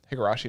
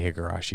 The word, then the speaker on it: Higurashi: it called uh uh higurashi no kokorai there you go i was trying to know how to say it properly i mean you could just say higarashi and most people would